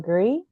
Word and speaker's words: Legree: Facebook at Nome lree um lree is spelled l g re kind of like degree but lree and also my um